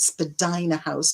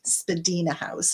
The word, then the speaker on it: Spadina House: Now, normally people would pronounce it Spadina House, but apparently, it's supposed to be pronounced Spadina House.